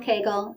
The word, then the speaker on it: Kegel: I've heard Kegel, Kugel, like all sorts of different ways to say his name. But this is Arnold Kegel.